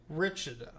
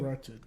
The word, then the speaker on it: Wretched: Now, Richard, I've known you. Wretched. I'm going to shit mispronounce right.